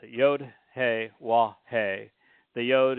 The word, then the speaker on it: Yod: The Yod is pronounced as you would pronounce yes.